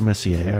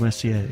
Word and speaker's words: Messier: And Charles Messier. Or Charles Messier, I should say. There's no S on the French name, right?